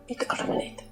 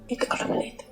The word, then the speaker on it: Ittoqqortoormiit: I looked up the pronunciation of it. Listen to this. Ittoqqortoormiit. Ittoqqortoormiit. Can you hear that? That's what it's called. Ittoqqortoormiit, maybe?